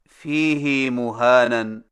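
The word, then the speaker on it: فِيهِ مُهَانًا: Number 9، فیہ مہانن میں فیہ کی ہا کو کچھ کھینچ کر پڑھیں، یعنی اس طرح فیہ مہانن۔ ہماری قراءت روایت حفص میں اسے فیہ ہدن کی طرح فیہ مہانن پڑھنا صحیح نہیں۔ صحیح تلفظ کے ساتھ ادا کیجئے، فیہ مہانن، فیہ مہانن، فیہ مہانن۔ نمبر 10،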